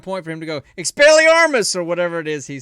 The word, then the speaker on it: Expelliarmus: To say it completely right, you have to say it with slight accent. Expelliarmus. So it stars Daniel Radcliffe, and then also stars this other guy named Thomas Kretschmann.